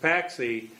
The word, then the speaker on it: Cotopaxi: a Quechua name like Cotopaxi, locally pronounced Paxi, except the road heading south is the Cotopaxi cutoff.